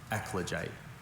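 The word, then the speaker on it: eclogite: Are there any alternate pronunciations? Just the one. Ekoite.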